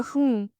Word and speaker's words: हूँ: Yes, like a हूँ. If I had to spell it in English, personally, I would spell it as H-U-U.